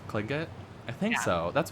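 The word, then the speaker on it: Tlingit: I'm pretty sure it's like it makes the TL makes a K sound, so it's Klingit. Klingit?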